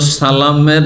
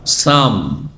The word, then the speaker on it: সালাম: বাহ্যিক সালাম দিত কিন্তু সালামের যে লামটি রয়েছে সালাম সিন লাম আলিফ মিম তাই না সালাম এই লামটিকে তারা সাইলেন্ট করে দিত উচ্চারণ করতো না তাহলে লামকে যদি মাইনাস করে দেন তো কি হয়ে যাবে সালাম ছিল লামকে আপনি ওখান থেকে সরিয়ে দিলেন তাহলে কি হবে সাম সাম মানে মৃত্যু সাম মানে মরণ আর মরণ